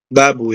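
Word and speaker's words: بابُ: Babu ya, ini dibacanya babu.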